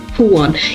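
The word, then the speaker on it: Juan: I know wait also the name Joan is pronounced with an H puan yeah thank you I'm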